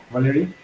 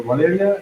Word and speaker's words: Valeria: Valerie or Valeria? That's the correct pronunciation.